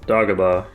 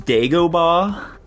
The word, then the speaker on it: Dagobah: Dagobah. Holy shit, he's goated. Or is he? Dylan? I agree. Nico. He mispronounced it. It's pronounced Dagobah.